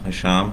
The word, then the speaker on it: حشام: ہوتے ہیں some time, کچھ لوگ ہاشم بول دیتے ہیں کچھ لوگ، لیکن میرا نام حشام ہے، عربک نیم ہے